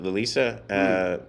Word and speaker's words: Lelica: I've never heard of Lelica, which this is how you pronounce it, Lelica.